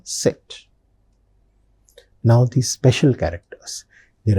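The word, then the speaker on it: Zett: Then set. set zed which you see as in English in German it is set.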